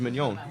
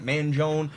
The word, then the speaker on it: Mignone: My last name is Mignon. The G is silent. It's Mignone, but it's Mignon, Mignon. I got Manjone.